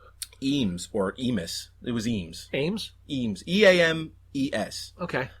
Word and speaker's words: Eames: It was Eames.